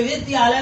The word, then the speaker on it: विद्यालय: लेकिन ध्यान रहे, विद्यालय में आधा दा और या है, आधा दा और या मिल के।